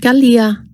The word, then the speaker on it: Kalia: girl or a boy Kalia is pronounced Gia it refers to the